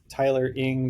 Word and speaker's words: Tyler Eng: You can follow me at Tyler Ing. That's spelled Tylereng.